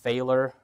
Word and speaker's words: Falor: my name is pronounced failure failor rhymes with epic failure so don't feel bad